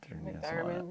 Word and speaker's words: McDiarmid: McDiarmid, yeah.